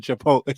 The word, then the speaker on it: chipotle: The full screen smelled of chicken tikka and chipotle sauce. Well done for pronouncing chipotle properly.